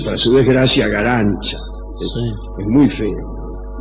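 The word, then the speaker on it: Garanča: llama Elena galán se escribe garanca pero se pronuncia para su desgracia galancha es muy feo y acá casi bien y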